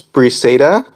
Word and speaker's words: Briseida: My oldest sister's name is Briseida. It's spelled Briseida.